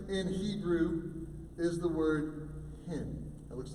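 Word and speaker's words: חֵן: You know, interestingly enough, the word grace in Hebrew is the word hin. It looks like chin, but it's actually pronounced hin.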